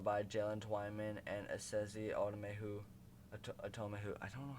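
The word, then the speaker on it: Otomewo: And I saw his name is pronounced Asezi Atomehu, but I watch a lot of Purple for the Win, and he always says Otomehu.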